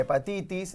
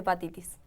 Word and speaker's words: hepatitis: por eso hablemos de hepatitis la h no se pronuncia es silenciosa y puede pasar totalmente